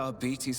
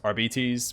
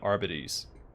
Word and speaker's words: Arbites: I always figured it's probably pronounced arbites, but uh I'm going to keep saying Arbides. I've been saying that for 20 some odd years. I'm going to continue saying it that way.